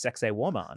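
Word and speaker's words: Sacsayhuamán: between the stones, and it's pronounced sexy woman.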